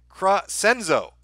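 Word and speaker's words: Crescenzo: i send super chats here's how you pronounce it cro senzo there we go kenzie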